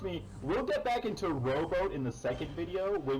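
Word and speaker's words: Roboute: So, there are people who will pronounce this as like Reboot Guilliman, Reboot Guilliman. Robert Guilliman, Okay. Robo Girly Man.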